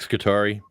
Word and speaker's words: Scutari: You want to leave a message for Nick Scutari?